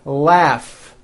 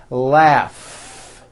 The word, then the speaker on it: laugh: strong R Freedom laugh notice the GH combination in that word laugh telephone notice the pH